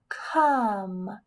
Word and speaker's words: come: K, come. Well, I hear a k at the beginning, and I hear a at the end. Come. I don't hear that E. It must be silent.